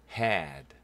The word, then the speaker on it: head: 요게 EA지만 그냥 head죠.